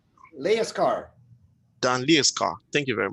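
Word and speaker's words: Lejerskar: Dan, how do you pronounce the name? Leaskar.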